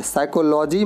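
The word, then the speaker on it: psychology: यहां पर ऐसे से पहले पी आया है साइकोलोजी मतलब मनोविज्ञान पी साइलेंट पी एग्जाम इसको स्थान पढेंगे तो पीस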